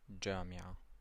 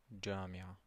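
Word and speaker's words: جامعة: You have jim, and it's pronounced j, as in jamia, university. So it's pronounced j, jamia, jamia. Repeat after me. J, jamia. Okay, we have che, as in church, chai.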